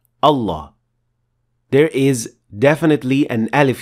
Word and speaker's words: الله: Well, the word Allah does have a dagger alif, simply because we pronounce it. We say Allah. We don't say Allah.